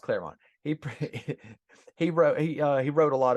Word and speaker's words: Claremont: Clermont. Well, it's pronounced Claremont.